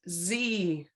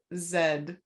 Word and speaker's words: Z: are pronounced h and z are they they are but if you learned your letters in the uk those are pronounced h and zed yes they are um